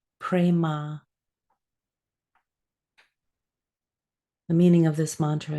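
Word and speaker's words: prema: a m pronounced aham the second word is prma p r e m a prma the meaning of this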